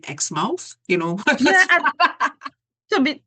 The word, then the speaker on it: Exmouth: traveled there right um that's exactly what I was saying X mouth right but my friend said no remember it's it's exmouth just as you know you pronounce Plymouth Plymouth you know but you